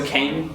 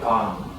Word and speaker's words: Kang: Well, it's Kang. Well, I mean, a lot of Americans say like Kang. Are you American? It's K. I mean, more like Khan, but that's that's fine.